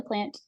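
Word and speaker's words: Plante: okay I'm plant the e at the um end of my name if you ever come across my my name is silent is plant um I live in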